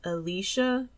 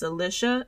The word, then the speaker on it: Alicia: Now, I said her name wrong. I thought her name was Alicia, but it's Alicia Edwards.